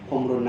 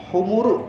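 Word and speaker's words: حمر: Jangan dibaca humuru ya. Jadi dibacanya dengan mimnya itu diberikan sukun, humru ya. Humri ya. Di sini kan kalau misalkan ada minnya berarti humrin na'am. Jangan dibaca humuru, jangan pakai dhammah.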